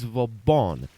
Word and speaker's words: Vauban: for the review I finally found the correct pronunciation it's Von named after a marshall of France and the